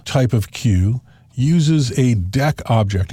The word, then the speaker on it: deque: And the default type of queue uses a deq object. And you notice I pronounced that deq instead of deque because deque might seem like a verb.